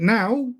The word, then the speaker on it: know: But now we would say no. So literally the first letter and the last letter you don't even pronounce. You just pronounce the two middle letters. And no, Know, is pronounced the same as no and O, which are the two middle letters in that word, but also a separate